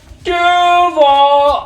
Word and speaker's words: Duval: It was the shittiest Duval I've ever It heard. was terrible. You know, it's supposed to be like Duval, like right? He put the emphasis on the wrong syllable.